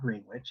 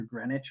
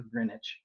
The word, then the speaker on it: Greenwich: It's not Green Witch. It's either Greenwich or Greenwich. Greenwich or Grenidge, right? There's lots of different ways to say it, but don't say Green Witch.